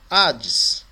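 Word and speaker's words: Ἅιδης: Então, na hora de pronunciar também, a gente pode optar por usar o som, a sonorização, a fonética do H do inglês, para diferenciar e a gente até entender que é uma aspiração áspera, um espírito áspero.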